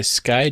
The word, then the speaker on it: Skye: That's With, W-I-T-H, that's the end, by Skye, spelled like the sky with an E at the end, Jitani, spelled like Jithani.